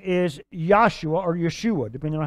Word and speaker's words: Yeshua: what did she say did she say Jesus no she said we would say Joshua but that's not the way she said Yeshua or yosua because Jesus's name is